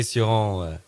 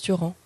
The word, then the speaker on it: Cioran: Dites-moi, Nicolas Suran... V-am spus că se spune Cioran! Qu'est-ce qu'il a dit là? Ça se prononce Cioran, hein, toujours.